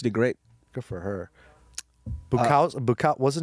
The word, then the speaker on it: Buakaw: Number one, for those of you who are only MMA fans, Saenchai and Buakaw that's how you say his name. Buakaw.